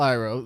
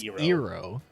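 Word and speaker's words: Iroh: is pronounced but then we have uncle iro zuko's uncle uh which they pronounced hero that pissed me off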